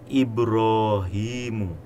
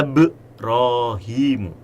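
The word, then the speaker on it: إبراهيم: Ibrahim itu hamzahnya adalah hamzah kotok. Wa idz qala Ibrahimu. Tidak boleh wa idz qala Ibrahimu. Kemudian Rabbij'al.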